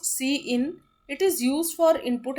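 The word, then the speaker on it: cin: यूस the insert operator C इन is pronounced C इन इट is used for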